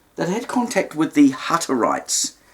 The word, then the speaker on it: Hutterites: Um, in the early days of setting up the community, they had contact with the Hutterites. It's spelled with two T's, Hatter and then itesites. Hutterites.